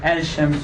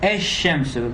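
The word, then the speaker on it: الشمس: do this mistake like al-shams or something like that. Okay, the definite article is not pronounced as al, but instead the lam assimilates to the first letter. It becomes ash-shamsu.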